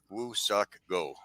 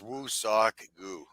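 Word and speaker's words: Woo-suk Go: Just for pronunciation correctness, okay, it is not Woo Suck Go. Okay, it's San Diego. Okay, it is Woo Sock Goo.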